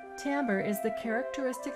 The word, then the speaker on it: timbre: is an interesting word it looks like the word timber but it's pronounced timbre timbre is the characteristic sound